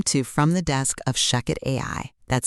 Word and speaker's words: ShechetAI: Welcome to From the Desk of Shucket AI. That's spelled ch AI.